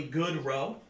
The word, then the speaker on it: Gaudreau: Is it literally good row? It's spelled all French and stuff. Oh, gotcha. Okay. Good. Gaudreau.